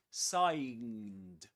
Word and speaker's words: sign: It's not signed. It's a sign. The this letter is not pronounced sign. Sign.